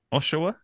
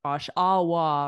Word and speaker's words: Oshawa: little too easy but I thought for syllable stress you might put it on the end or something but and say like Oshawa or Oshawa or like something like that but you got it Oshawa Oshawa not too bad right it's